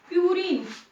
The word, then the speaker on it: purine: First one इज प्यूरिन, PURINE। अगर आपको नहीं दिख रहा है तो मैं स्पेलिंग बोल रही हूँ, PURINE, प्यूरिन।